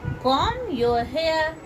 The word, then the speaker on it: comb: कॉम your hair. देखिए कॉम, COMB, इसको कॉम मत पढ़िएगा, कॉम नहीं होता है ये, कॉम, कॉम, इसका प्रोनाउंसिएशन क्या होता है?